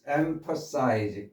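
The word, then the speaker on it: emphasize: 첫 번째 단어 엠퍼 엠퍼 이게 PH를 표시를 한 이유는이 무성함이에요. 엠퍼 엠퍼 하면 안 되고 엠퍼 이렇게 무성함 엠 엠퍼사이즈 이렇게 발음하시라고 표시를 한 거고요.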